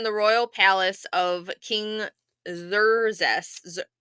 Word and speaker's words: Xerxes: So for the women in the royal palace of King Xerxes, how are we saying his name? Xerxes. Xerxes, yeah. Xerxes. So the Z, right? Yeah, Xerxes. Yeah, it's an X, not a Z.